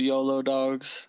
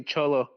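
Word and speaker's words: Xolo: on that also the yolo dogs right is it yolo dogs oh it's a it's actually cholo cholo or solo yeah it's basically the mexican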